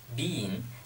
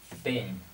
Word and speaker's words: been: Ok chữ bein này các bạn nhớ là trong tiếng Anh anh thì chúng ta đọc là Bean nhưng mà trong tiếng Anh Mỹ Chúng ta đọc nó là y ngắn Chúng ta đọc là been be been Nếu các bạn còn